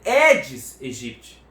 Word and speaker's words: Aedes aegypti: No latim, esse AE tem som de E.